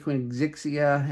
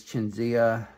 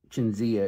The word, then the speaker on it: Qingxiya: chinia on my channel I've been been saying quen zixia and that's not right it's chenia I remember I learned how to say it once but I forgot but chinia is how you say